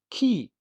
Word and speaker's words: き: Key.